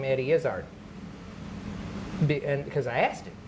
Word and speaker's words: Izzard: said, so how, okay, is it Izzard or Izzard? And he goes, it's neither. Say baseball. It's baseball. So now say Izzard. Oh, okay. You don't put any emphasis on either syllable.